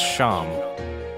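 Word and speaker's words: Seam: Mick Doohan off Avis the name Shaam it's pronounced Shawn and this is his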